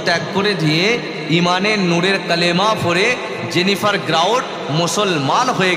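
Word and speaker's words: قُلْ: কোরআন শরীফ বলছে কুল হু আল্লাহু আহাদ, না, বড় কাফ লাম, কুল হু আল্লাহু আহাদ। আরবিতে বড় কাফ লাম মানে কুল, আর ছোট কাফ লাম কুল মানে হচ্ছে খাওয়া।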